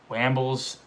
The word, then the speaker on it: Wambles: Wambles, it has an A, but it's pronounced like an O. Wambles. JJ Wambles.